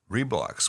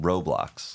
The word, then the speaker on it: Roblox: And there's one about Reblocks, which is very popular. The kids that I see in the clinic often tell me that that's their favorite way of getting gaming. I believe it's pronounced Roblox.